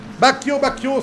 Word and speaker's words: Bacchio: Bacchio, sorry for pronouncing your name wrong until now. No, Bacchio will spin because I said his name right.